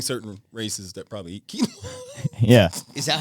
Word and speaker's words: quinoa: Because there are only certain races that probably eat quinoa. Yeah. Is that how you pronounce it? Quinoa. Yeah. Yeah. Really? Yeah. How did you think you pronounced it? Quinoa. Quinoa. That's what it looks like. Quinono.